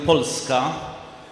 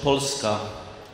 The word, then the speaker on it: Polska: We pronounce the name of our country Polska. Can you pronounce it in Polish? Polska.